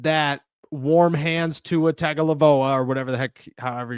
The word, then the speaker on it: Tagovailoa: I'm not convinced that warm hands to a Tagovailoa or whatever the heck, however you pronounce his last name. Shout out to you guys. That was pretty close. Tagovailoa. Tagovailoa. Tua Tagovailoa.